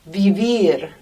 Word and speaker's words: vivir: We also have vivir. Vivir means to live. And the Spanish V there is almost a B, between a V and a B.